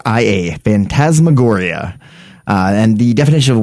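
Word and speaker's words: phantasmagoria: that sort of Realm uh the word is fantasmagoria much loved publication of horror films that's been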